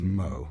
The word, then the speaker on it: Moher: Whereas what you've described that you saw at the Cliffs of Moher, is it Moe or Moore? It's technically pronounced Moe, yeah. Moe. Like Moe, the bartender in The Simpsons?